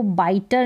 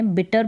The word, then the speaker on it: bitter: फिर यहाँ है, इसको बाइटर नहीं पढ़ना है, बिटर पढ़ना है, बिटर। बिटर का मतलब कड़वा, जैसे कि करेला, तो बिटर, BITTER, बिटर इसकी स्पेलिंग है। यहाँ पर डबल T आ रहा है, देख ले।